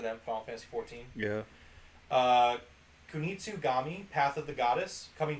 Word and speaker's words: Kunitsugami: Kunitsugami, Path of the Goddess, coming to Game Pass in 2024.